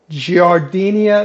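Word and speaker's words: giardiniera: new for us uh giardinia is what i'm told is the pronunciation but i'm from the south so it may be some derivative of that so let's get started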